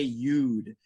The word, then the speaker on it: you'd: And again, just for pronunciation practice, most Americans say you'd. You'd. Instead of saying you would, you'd.